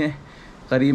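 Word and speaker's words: Jacó: दौड़ करने का नहीं है। करीब में एक हाको हाको हाको की स्पेलिंग जो है ना वो जे से होती है, यहाँ पे JACO कि जे की साउंड यहाँ पे एच की साउंड है, यानी कि जैसे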